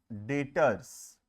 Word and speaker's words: debtors: डेटर्स। डेटर्स बोलते हैं, B silent है, ध्यान रखना। ठीक है, लिखते समय DEBTORS लिखते हैं, प्रोनाउंस करते समय बी साइलेंट होता है, लिखते हैं DETORS।